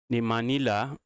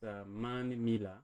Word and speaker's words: Manmila: The Manila. Am I pronouncing that well? That's Manmila. Manmila, okay.